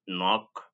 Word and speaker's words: knock: It can also be written as KN, but the K is silent and together they make the sound na, as in knee, knock, knife.